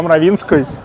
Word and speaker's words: Мравинский: Вообще, они любят произносить не Мравинский, а Мравинской. Мравинской. Да, да.